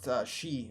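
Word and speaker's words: 四: It's pronounced she in Japanese, which is Soon to be wiped from very similar to But I death.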